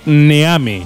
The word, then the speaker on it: Neame: Pues léelo en español, te lo leo yo. Sepper Neame. Neame. Claro, así no fallas.